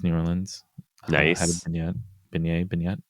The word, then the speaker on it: beignet: beignet.